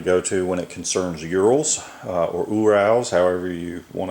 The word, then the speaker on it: Ural: want to pronounce it if want to pronounce it in the Russian way I believe it's Ural uh we call them UL here in the South and um check out